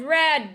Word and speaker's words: read: Read. Read. Red. Very good. It's the same spelling but different pronunciation.